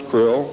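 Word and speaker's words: Krlll: name and title was his omnipotent highness Krill pronounced Krill spelled KR l l l or c r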